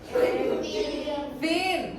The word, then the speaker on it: thin: Thin, muy bien. No thin. TH suena como una thin.